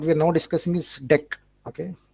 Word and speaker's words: deque: Okay, it's actually pronounced deck. Okay, so don't call it DQ.